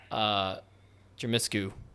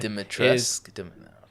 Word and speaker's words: Dimitrescu: Is the lady Jermiscu, I just said her name wrong again, I'm sure. Mod Dimitrescu.